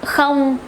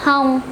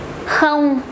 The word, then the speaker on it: không: And the easiest one is in the word không, không. It's not hông, không, không. Quite strong.